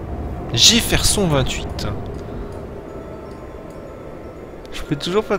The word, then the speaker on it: Jefferson: oui on va bien Jefferson en fait on le prononce à l'anglaise mais c'est peut-être jefferon jeferon 28 je peux toujours